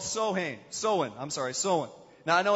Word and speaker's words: Samhain: hang soin I'm sorry sewing now I know it's spelled like Samhain there but it's pronounced sewing and this is a